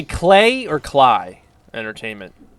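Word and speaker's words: Klei: I just thought it was settled it was Clay all right clay from here on out in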